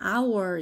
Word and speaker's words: our: 그 다음에 our 얘는 H가 있긴 한데 얘가 소리가 없어요. 그래서 여기만 소리가 있는 부분이야. 그래서 얘가 our 이렇게 발음이 되기 때문에 on our 이라고 붙여주면 되고요.